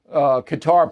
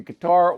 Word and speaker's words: Qatar: So they divert into the Qatar Plane thing. Now, you can pronounce that country Qatar or Qatar. Both are used.